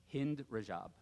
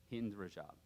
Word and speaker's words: Hind Rajab: Hind Rajab. I think that's how you say her name. Hind Rajab.